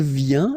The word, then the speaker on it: vient: Then il vient, exactly the same sound, because final T here is not pronounced.